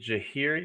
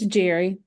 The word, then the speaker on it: Jahiri: Is it Jahiri? Is that how you pronounce it? It's Jerry. Jerry, okay.